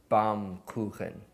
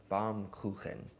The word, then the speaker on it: Baumkuchen: you pronounce baumkuchen and German bomb koukin bomb cooling right but anyways this is